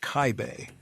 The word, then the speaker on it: Kaib: Eduard Kaib, pronounced Kaibe, is a sergeant in the German army, a non-commissioned officer.